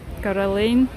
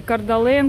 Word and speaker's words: Coeur d'Alene: уже, наверное, говорила, да, Каролейн. Пишется через D, да, и мы привыкли Кардален, Кардален, но американцы они не произносят, потому что это французское слово, и они как Каролейн его без D произносят.